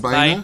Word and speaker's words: Baena: A little video created by Carlos, and I'm hoping I'm not mispronouncing his name. Carlos Baenas. Baenas. Baena?